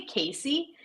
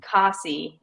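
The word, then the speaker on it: Kesi: I need to put it phonetically because I want to say Casey, and it's Kasi.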